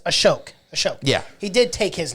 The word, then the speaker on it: Ashok: I keep getting that name wrong. It's Ashok.